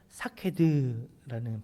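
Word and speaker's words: שקד: 살구나무가 사케드라는 발음입니다.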